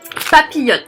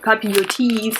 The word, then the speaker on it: papillote: These are called Papillon. The I and LL, it's Y. It's the Y sound. So Papillon. And you don't pronounce the S, or it's not papillotes, it's papillon.